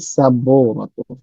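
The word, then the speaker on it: سبورة: পরে হচ্ছে হাযিহি সাবুরাতুন। সাবুরাতুন, বায়ের যেহেতু পেশ আছে, সাব্বু আর পরে ওয়াও, তাই এখানে একটু লম্বা টান হবে, সাবুরাতুন।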